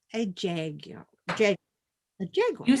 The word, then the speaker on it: Jaguar: And when they advertise the car, they call it a Jaguar. And it's like, Jaguar, not Jaguar. Well, and that's how a lot of people pronounce it, Mom. That's how it's supposed to be pronounced, as jaguar.